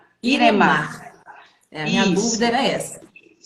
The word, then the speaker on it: Iremar: eu estou falando certinho é irema mesmo seu nome não é isso a pronúncia é irema iremar a minha dúvida era